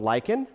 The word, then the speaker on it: lichen: about this this is something called lichen that's l-i-c-h-e-n not spelled like the werewolves right so this is